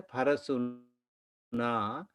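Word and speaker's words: parasunā: Okay, I think there should be again a long A here, parasuna, and that is parasuna with axe.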